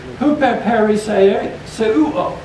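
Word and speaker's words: ὑπερπερισσεύω: But this is the Greek word huper peri seuo. Seven syllables. Say that one real fast three times in a row. Huper peri seuo.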